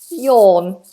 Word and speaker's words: yawn: So, let's just get this pronunciation right. Yon. So we don't do yao or ya, it's y. This vowel sound is difficult for many students. Or the tongue is down. There's a big space inside the mouth and the sound is placed at the back. O. Or and the lips don't move.